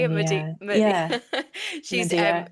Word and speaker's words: Medea: Medea.